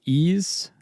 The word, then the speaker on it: Ys: Now NIS America and developer Non Falcom will release uh Ease that's spelled YS Ease10 Proud Nordics in just a few days.